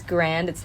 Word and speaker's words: Grande: actually pronounced tell me because she's italian it's pronounced grandi i'm pretty sure yeah